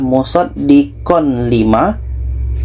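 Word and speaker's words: مصدقا لما: ini di sini ada tanwin bertemu La ini idgham Bila Ghunnah jadi bunyi tanwin kita masukkan ke la yang asal Bacanya adalah musaddiqon lima musaddiqon limaah tanwin kita masukkan ke lam musaddiqonima tidak ada dengung musaddiqonima untuk contoh nun mati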